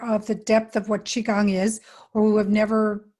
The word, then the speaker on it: qigong: fact saying the word qigong is probably the hardest part of this practice so it's spelled q-i which means that's chi that means your life force energy gong as in gongfu everybody knows what kung